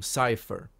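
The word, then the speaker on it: Seifer: Everyone calls him Cypher. And I'm not sure if that's the official pronunciation, but everybody says Cypher. And that never made sense to me, because it's not spelled with an A. It's say, a, Safer.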